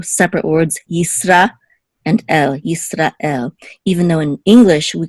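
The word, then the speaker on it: ישראל: And you also find it in the word Israel. In Hebrew, it's Yisrael, Yisrael. It's almost as if it's two separate words, Yisra and El, Yisrael.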